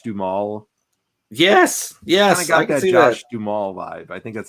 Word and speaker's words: Josh Duhamel: I got that Josh Duhamel vibe.